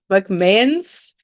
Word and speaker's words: McMahons: M C M A H O Ns. Wait, the way you were the way you were saying it, I thought it was like M A Han, but McMahons.